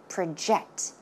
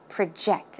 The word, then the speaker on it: project: now in this case we are not talking about project as in a noun but it's used as a verb so how should it be pronounced project project okay project your name